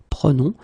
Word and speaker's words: prenons: Keep in mind that you should pronounce it prenons.